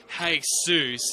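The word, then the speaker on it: Jesús: cultures to be named Jesus or hey Suz as they pronounce it down there it's considered an order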